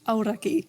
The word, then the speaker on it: Aoraki: Aoraki. Okay. I'm not the best Look, you're better than pronunciation, but yeah.